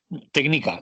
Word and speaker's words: Tknika: Porque no lo has pronunciado. Sí, técnica, como se Técnica, hace eso.